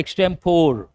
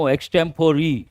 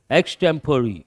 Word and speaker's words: extempore: A lot of people say extempore. No, extempore. How do you pronounce that? Extempore.